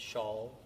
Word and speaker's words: Charl: Well, it's pronounced like a woman wears a shawl on her shoulders. So the name is Charl.